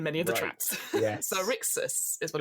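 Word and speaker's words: Xaryxis: So we've got the Astral Adventurer's Guide, Boo's Menagerie, and now, how do you pronounce this? Light of Zarshis. Lights of Xerixis.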